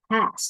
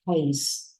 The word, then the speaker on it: has: Has, not haze. This is not haze, this is has.